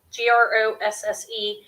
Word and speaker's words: Grosse: I don't know how to pronounce it, to be honest. It's Grosse.